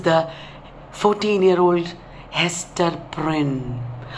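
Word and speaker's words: Prynne: 14 year old hester prin her name rhymes with sin she has a three-month-old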